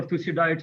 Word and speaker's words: Thucydides: called the tusi diet strap which was uh pronounced by the greek philosopher thucydides i think 500 bc or something that there